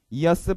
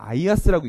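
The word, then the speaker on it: IaaS: 구름의 이야기입니다 구름의 종류들이고요 이하스 파스 사스라고 읽고 가장 앞에 있는 이하스는 어떤 분들은 아이아스라고 읽는 분도 계십니다 뭐 심플하게 말씀이 이런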